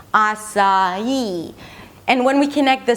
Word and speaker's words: açaí: We begin with /ah/ that's the /ah/ as in father, then /sa/ that's the /s/ and the /ah/ as in father 'ah-sa'. And the third syllable is just 'ee'. It's the primary stress, so it's going to be higher in pitch.